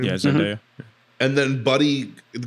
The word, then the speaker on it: Zendaya: Zendaya, is that how you say her name? Yeah, Zendaya.